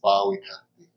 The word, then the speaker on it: Bowekaty: Is it Bowekaty? Yeah, you can use that close enough. What's a good pronunciation? Well, originally it's pronounced Bowekaty.